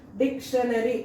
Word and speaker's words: dictionary: So, dictionary, that is IPA script. And its syllables are four. Word stress is dict is stressed. The first syllable is stressed.